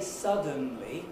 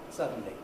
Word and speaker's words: suddenly: schwa i couldn't say suddenly with a schwa between the d and the end i miss out the schwa i just get suddenly so you don't have